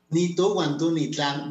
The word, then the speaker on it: Nitu wantú ni tlan: ¿Cómo se pronuncia? A ver, dime. Ni tú, guantú, ni tlan. Muy bien. Ni tú, guantú, ni tlan.